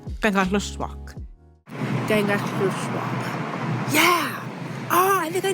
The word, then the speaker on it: Kangerlussuaq: are overwhelmingly coming through one of those airports, Kangerlussuaq, especially if you're a local, which I'll explain why a little later on. And it's been a whole journey learning how to say Kangerlussuaq. Kangerlussuaq.